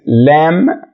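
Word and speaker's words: lamb: مش بنقول كلايمب ولا كلمات زي لام مش بننطقها لام لان اخرها حرف البي وحرف البي لما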